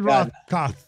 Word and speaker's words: Rothkopf: sounds good to me the f at the end is silent yes well not really but it doesn't matter okay how's it feel we'll keep this all in dan david rothkopf please uh fair play